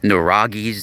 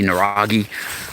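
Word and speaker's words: nuraghe: how the spell it's like an n-u-r-a-g-h-e naragi right it's a certain it's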